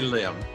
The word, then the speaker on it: Lim: Oh, you say Lim. That's an Americanized pronunciation. I'm used to saying Im in Korean, actually.